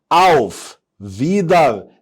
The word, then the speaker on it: Wiedersehen: كلمة مكونة من 3 مقاطع، auf Wiedersehen. وفي بعض المدرسين بتقولها او Wiedersehen وبيخلي الها سايلنت، لكن ما عنديش مشكلة في النطق ده. لكن الحقيقة او Wiedersehen.